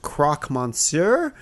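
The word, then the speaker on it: croque monsieur: a few times but I think it's pronounced Croc Monsur uh or Madam depending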